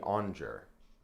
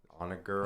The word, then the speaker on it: Onager: He says it should be called Shrek the Onger. Onager, I think is how it's supposed to be pronounced.